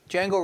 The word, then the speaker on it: Django: Anyway, we're talking tonight about Django Reinhardt, DJ Ag, the D is silent.